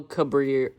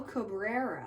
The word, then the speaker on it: Cabrera: uh christian pack um miguel cabrillo cabrera cabrillo it's miguel cabrera oh sorry adam gonzalez